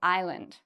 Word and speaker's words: island: We don't say Iceland, we say island, okay?